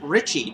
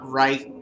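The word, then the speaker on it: Reiche: Fred Ford and Paul Ritchie which is how I know he pronounces it Richie not right or right or anything like that um yeah you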